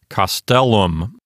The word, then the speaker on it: castellum: So since the penult here is a long syllable, it will get the accent. The accent won't go over to the antepenult. It'll stay here on the penult. And so this word sounds like castellum.